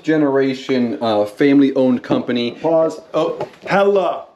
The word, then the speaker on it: Helle: Oh, Helle, not Helle. We all thought it was Helle. Yep. Helle, the guy came in, told us, great guy. So just want to let you guys know that we're not mispronouncing it.